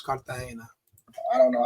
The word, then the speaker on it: Cartagena: Is it Carpena or is it Cartagena? I I don't know. It's Cartahena. The the um the G makes an H sound in Spanish. So, it's Kartahena.